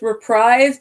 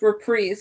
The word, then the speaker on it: reprise: cover you were priests some people say it's reprise but it's were priests I said how you actually pronounce it I learned that in choir my senior year but it's all covering